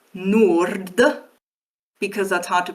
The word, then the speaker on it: nord: One of them ends in a normal D and the other in a retroflex D.